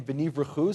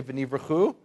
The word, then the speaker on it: venivrechu: We have here, what they've done is they've taken v'nivrechu, say v'nivrechu, and the word brechot, say brechot.